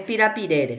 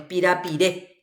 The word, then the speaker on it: pirapire: Acá no es pirapirere, sino es pirapiré, que es plata, efectivo, dinero. Pirapiré. ¿Dónde recae la fuerza de pronunciación? En la E.